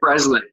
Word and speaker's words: Breslin: Breslin, Abigail Breslin.